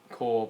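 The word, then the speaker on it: Corps: green ltin cor movie it's y core but it's spelled CP yeah but PE PE silent know why they just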